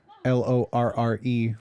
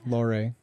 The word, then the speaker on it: Lorre: Lorre, Lorre. His name was Peter Lorre.